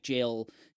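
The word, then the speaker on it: gaol: uh the the black jail knight uh found out that it's pronounced Jail uh even though it's spelled g a o l um it's also pronounced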